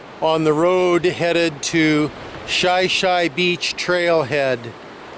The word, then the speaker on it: Shi Shi: to shy-shy Beach trailhead shy-shy Beach is spelled shì shì so one might think that it was pronounced shi shi but if he pronounced it that way the locals will all know that you're not from around here it's shy shy but this is an